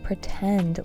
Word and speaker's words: pretend: When his friends asked how he was doing, he would pretend like everything was fine. Pretend. Stress on the second syllable.